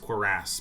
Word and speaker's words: cuirass: Okay, a dented cuirass. It's technically pronounced cuirass, but you get a helmet soon.